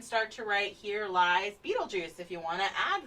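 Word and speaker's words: Betelgeuse: It's still pronounced Beetlejuice.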